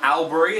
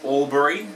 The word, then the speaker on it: Albury: Mel born its Melbourne it's not Albury it's all Barry it's not Canberra it's